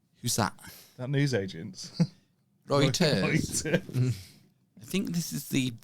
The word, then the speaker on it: Reuters: The Reuters exclusive. Reuters. Reuters. You know, the news agency. Reuters. The world's most trusted news sources. The one at the end of the road. Who's that? That news agent. Reuters.